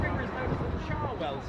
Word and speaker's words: Cherwell: That river is known as the Charwell, spelled Cherwell and pronounced Charwell, as the college is spelt Magdalene but pronounced Magdalene.